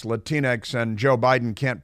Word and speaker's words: Latinx: but they've got this latinx thing which they try to pronounce latinx and Joe Biden can't pronounce it all but um it's supposed to be Latin X Latin X excuse but it makes